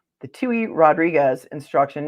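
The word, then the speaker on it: Touhy: in this case uh through the Tue process in federal court which is spelled tou Y and this is Tu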